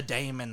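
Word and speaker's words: daemon: mid 1600s the what like demon but with an a because that's how they used to spell it d a e m o n when you do that with an accent it's even more confusing it's not with an accent that's just how you say it Dam say it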